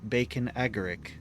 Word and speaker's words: Bacon Agaric: always feel like I botched it the pronunciation bacon agaric bacon Agri okay that's the first time I've ever pronounced it correctly bacon agaric they changed its model the the the nut